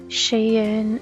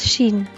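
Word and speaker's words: Shein: of stuff from Sheen I looked up Googled it and that's how you pronounce it I know people will see shaying and Sheen no Shane but Google says it's Sheen so I'll have to remember say it like that but I was gonna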